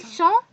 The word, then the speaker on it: sont: After that, ils sont, elles sont. I have told you that we don't pronounce this S in both of them, and its pronunciation is sont.